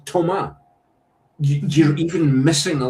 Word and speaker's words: Thomas: It's Toma. You're even missing a letter. That's that's how you pronounce it. You know, you you don't you're not having to do anything clever. Just don't pronounce the S.